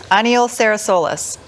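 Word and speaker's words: Aniol Serrasolses: Aniol Sarasolsis.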